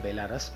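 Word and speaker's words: Belarus: पता नहीं उसको मैं बेलारस पढ़ूँ या बेलारूस पढ़ूँ, दोनों सही है, इंग्लिश के हिसाब से तो बेलारस ही होगा।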